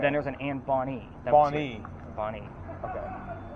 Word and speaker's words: Bonny: Bonnie. Bonnie. Okay. Like the female name Bonnie. Yeah. It's just spelled with a Y instead of an IE.